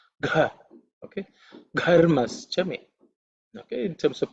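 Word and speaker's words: घर्मश्च मे: It's an aspirated consonant, so you have to say it with a bit of emphasis, with a lot of air. Gha, okay. Gharmaschame.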